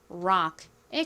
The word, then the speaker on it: rock: R은 리을 소리 나고 OC는 악 소리가 나는데요. 아래 뒤에 이렇게 모음이 나올 때에는 입을 약간 오므렸다가 펴면서 발음을 합니다. 그래서 정확한 발음은 락이 아니라 rock에 가까워요.